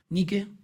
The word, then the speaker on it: Nike: griega que es la diosa Nike nique diosa nique y lo pronuncio como decm acá en Argentina bueno que es la